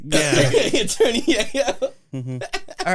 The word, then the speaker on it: Geo: plate Geo, with GEO, which for clarification apparently is pronounced Yeo in Swedish, and it is taken from the Cuban slang word for cocaine.